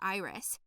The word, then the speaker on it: Iris: voice her name was aunt iris emphasis on the first eye she reassured me said